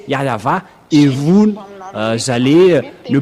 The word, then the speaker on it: Yahvah: le frère Dieu d'Abraham vous devez prononcer yava et vous vous allez